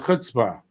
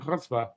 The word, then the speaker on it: chutzpah: I know how to say the ch. Not a lot of people know how to. If you're not Jewish, it's hard to say the ch in chutzpah.